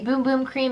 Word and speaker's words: Bum Bum Cream: from sol de janeiro this is the boom boom cream it is spelled bum bum cream in case you are a little bit confused this is a body